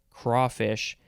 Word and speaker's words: crayfish: The synonym is the number 1 definition for, I say crayfish, but I know some people say crawfish, even though that pronunciation is not here.